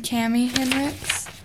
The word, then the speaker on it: Cami: our show thank you hi I'm Scott Hendricks it's spelled H i n RI CHS and I'm cami it's about C Am I we live